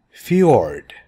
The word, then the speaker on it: fjord: Fjord, this is pronounced as yeah, fjord.